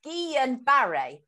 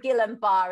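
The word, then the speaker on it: Guillain-Barré: found out this morning it's uh it's actually pronounced guillain barre right but but we'll call it gill and bar it's so much easier isn't it so kerry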